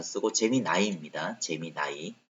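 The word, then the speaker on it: Gemini: 안 쓰고 재미 나이입니다 재미 나이 여기는 재미 니라고 돼 있는데 재미 나이로 발음해요네 근데 뭐 재미나 쓰신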